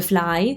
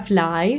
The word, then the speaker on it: fly: Un italiano forse direbbe fly, I, tipo paura, fly, invece è I.